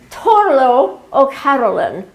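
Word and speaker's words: Turlough O'Carolan: It's pronounced Torlo O'Carolan, the most famous blind Irish harper.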